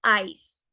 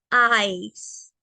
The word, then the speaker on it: ice: como tal en inglés, esta no es ICE, es eyes. Tampoco es is, no, eyes.